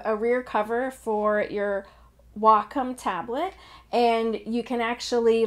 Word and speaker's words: Wacom: might notice that in this video I'm actually pronouncing it Wacom which has been really hard I actually had